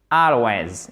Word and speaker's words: always: dit toujours en anglais always exactement c'est un allon accentonique sur la première syllabe ok I always go to